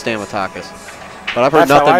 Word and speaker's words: Stamatakis: my shortterm memory is stamatakis yeah I think it's stamatakis but I've heard nothing pronounced it's exactly how you see it you break it down into one two three four well I heard nothing